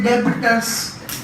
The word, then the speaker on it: debtors: Debtors. Okay? You'll not say debtors. B is silent.